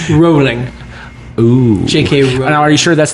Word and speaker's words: J.K. Rowling: Tweet J.K. Rowling. Rowling. Ooh. J.K. Rowling. Now, are you sure that's the British pronunciation or the American pronunciation? I'm sure it's J.K. Rowling.